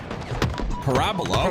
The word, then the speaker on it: Parabola: that belongs to I I want to say Parabola but I believe you said it's Parabola I believe it's pronounced Parabola okay new to me